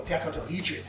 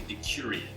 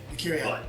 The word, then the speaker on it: Decurion: us how powerful a decadahedron is. Am I pronouncing that right? No, I think it's actually Decurion. Decurion.